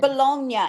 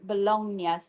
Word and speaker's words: bologna: And I think some people say bologna. It's like the g is bologn. Yeah. It's like a silentish G.